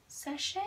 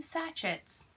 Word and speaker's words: sachet: and I was like sachche H yes I have been calling them satchets my entire life so again sachche a good french word clearly that it's pronounced that way and I had been